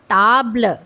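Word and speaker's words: table: And later a is mostly silent. हां। So this one इज नाउ how will how will read this word हम ट्राई यस इट इज ताबल okay means टेबल नाउ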